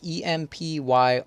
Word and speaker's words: Empyrion: The other game that I've been playing is called Empyrion, I think it's called, is how it's pronounced. It's Empyrion.